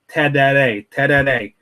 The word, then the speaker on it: tereré: It's kind of difficult to pronounce, but it's called tereré.